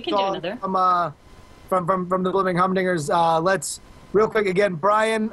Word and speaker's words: Blibbering Humdingers: So just so we have the spelling right, you said Blubbering Humdingers or Blubbering? No, Blubbering. It's spelled right there on the screen. Right. B-L-I-B-B. Blibbering Humdingers. Blibbering.